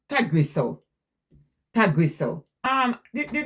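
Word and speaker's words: Tagrisso: Uh, it pronounced Tagriso.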